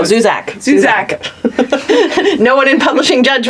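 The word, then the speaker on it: Zusak: How do you say his last name? Zuzar. Well, no, Zuzak.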